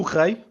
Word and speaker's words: rei: So, up next, do rei.